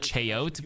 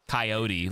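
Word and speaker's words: chayote: I said you spelled Filipino wrong, but I called it chaote, but it's coyote, like a animal for the green vegetable.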